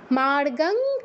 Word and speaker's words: মার্গং: প্রথম অক্ষর ক তো অনুস্বারের স্থলে হসন্তর মত উচ্চারণ হবে আর এটা কি হবে